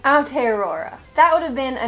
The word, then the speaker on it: Aotearoa: In Maori, it is said as Aotearoa. Like I was saying, Aotearoa.